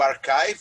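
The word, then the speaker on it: arXiv: O primeiro foi o archive, a gente pronuncia esse X, é o ki, é grego, se pronuncia em inglês, chives, né?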